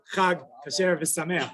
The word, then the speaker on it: Chag Kasher V'Sameach: So you can say Chag Kasher V'Sameach, but emphasis on the last syllable. So you're supposed to say, emphasize the Chag Kasher V'Sameach. Remind people that don't get all crazy about cleaning.